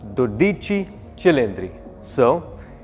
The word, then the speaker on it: 12Cilindri: Ferrari you're going to have to learn to pronounce the name correctly so to start with it's called the dichi Chri so which effectively is 12 cylinder Ferrari now some